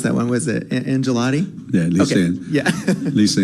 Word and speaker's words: Angelotti: me her maiden name oh I got to pronounce that one was it angelotti yeah Lisa yeah Lisa angelotti yeah I knew I I knew it was